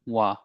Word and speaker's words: は: So even though it is written as a ha okay it it read as a wa.